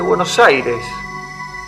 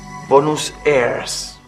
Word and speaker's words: Buenos Aires: el extraño nombre de Buenos Aires, que ellos pronunciaban Bonus airs.